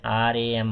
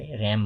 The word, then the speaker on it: RAM: जस्तो र्याम छ, र्याम आरएएम भन्दैनौँ, हामीले र्याम भन्छौँ। यसको फुल फर्म छ र्यान्डम एक्सेस मेमोरी। कम्प्युटरको मेमोरीलाई र्याम भन्छौँ, छुट्टै वर्डको रूपमा प्रोनाउन्स भयो।